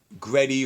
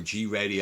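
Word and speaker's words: Greddy: Gretty or G-Ready, I've heard it pronounced both ways, makes turbochargers and accessories.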